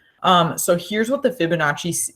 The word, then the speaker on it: Fibonacci: to write it out FIB uh Notch e Fibonacci is how you pronounce it this is a dude